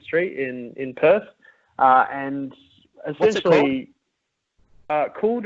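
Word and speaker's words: Kuld: And essentially, Cooled, it's spelled K-U-L-D, Creamery.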